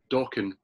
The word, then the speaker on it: Dokken: But it did actually say on the front, Dokken rhymes with rockin'.